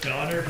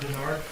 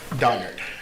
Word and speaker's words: Donnard: last name uh it's donard d o n n a r d and last name j o h n s o n all right thank you it's it's donard not Berard donard I need to apologize